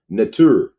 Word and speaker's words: Neter: Kemetic people call the one, all, divine by the Nubian hierophonic name Neter, pronounced Netur.